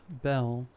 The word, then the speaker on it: Bel: Then she said her name was Belle. I said, like the Beauty and the Beast? She laughed, then said, almost, but it's spelled B-E-L.